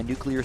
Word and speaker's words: nuclear: I'm saying it like it's N-U-K-E, then leer. Like L-E-E-R, like nuclear. Nuclear.